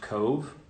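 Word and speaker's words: Cobh: And then Queenstown, Ireland, which has now been renamed, I believe it's pronounced Cove, Ireland.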